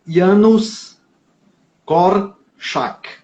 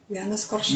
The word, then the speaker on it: Janusz Korczak: O nome dele é polonês e a gente tem que não se lê como se escreve, claro, né, no polonês. O nome dele é Janusz Korczak. Janusz Korczak.